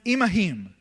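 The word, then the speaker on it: עִמָּהֶם: a Hebrew word that says im that is pronounced imahim.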